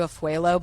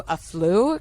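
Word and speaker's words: Afualo: I always say Drew Afuelo, but it's Drew Aflu, because that's how you pronounce it on TikTok.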